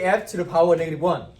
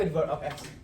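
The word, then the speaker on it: f⁻¹: write it is f don't say f to the power negative one okay because it's not it not it doesn't mean to the power negative one you how do you say it how do you read this X f inverse of x.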